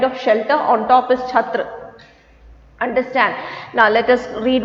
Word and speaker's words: छात्र: How do you say this? छात्र. Never say ch. You get the tendency of saying it lightly.